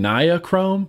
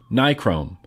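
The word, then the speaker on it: nichrome: Now people always think I'm saying ni chrome, but I'm not. I say n chrome. Nik chrome. It just it sounds like it. I promise you I know how to say it correctly. It's n chrome.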